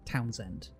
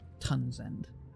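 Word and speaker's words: Townsend: name name so like there's a popular surname in English which is like towns end we wouldn't say tons end we'd say towns would normally pretty normally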